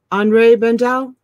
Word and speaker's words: Henri Bendel: Henri Bendel? Yeah, that's how you pronounce it.